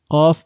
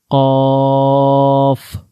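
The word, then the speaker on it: قاف: Qaf is read by the root of the tongue and the soft plate.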